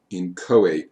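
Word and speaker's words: inchoate: and i know it doesn't look like it's pronounced that way but it is in koat offenses or in koat crimes you attempted to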